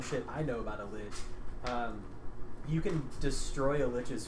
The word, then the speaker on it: lich: turned himself into a, am I pronouncing it like a lich? A lich? L-I-C-H? Lich. Lich. Correct the first time.